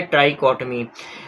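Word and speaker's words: trichotomy: इसे प्रोनाउंस किया जाता है ट्राइकोटमी।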